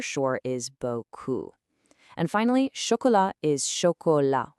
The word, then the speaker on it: chocolat: is buou and finally choka with a silent t at the end.